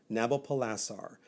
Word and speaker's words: Nabopolassar: He has a father, Nabopolassar. Nabopolassar is his name. How do you spell that word? think of it as Nabopolassar or Nabopolassar, N-A-B-O or N-E-B-O, P-O-L-A-S-S-A-R, Nabopolassar. He was the ruling king of Babylon.